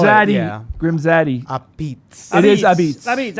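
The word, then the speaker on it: apizza: Abitz.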